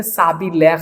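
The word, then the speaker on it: s'habiller: तो देखो यहां पे स ब्रोसेक स हापिले अब एच को तो प्रोनाउंस नहीं करते। साबी लेक हो जाएगा।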